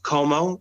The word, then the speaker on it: Comeau: You can find some of my stuff on YouTube, Comeau, and Comeau is spelled Comeau, which is the French spelling, but basically you pronounce it just like you would Perry Como.